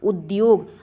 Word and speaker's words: उद्योग: है तो ध्यान रखिएगा इसका प्रोनाउंस एशन द्या से होता है उद्योग आप इसका प्रोनाउंस एशन